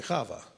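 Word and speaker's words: חוה: I say because she's Eve is the way we pronounce it in English but it would be hava okay thank you okay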